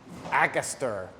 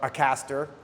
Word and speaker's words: Akaster: house parfums de marley this is akuster or a caster depending on how you want to pronounce it this is a fragrance